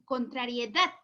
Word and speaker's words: contrariedad: tampoco no está bien contrariedad ahora si mi hija ahora si suena bien por lo tanto la sílaba tónica está en la última sílaba correcto ahora para esto